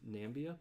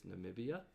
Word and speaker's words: Namibia: cacnia because it was the wrong number of syllables because i thought it was nambia but it's namibia and i forgot what i had here but